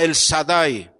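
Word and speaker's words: El Shaddai: como Dios Todopoderoso o en la pronunciación antigua se llama el sadai el sadai el Dios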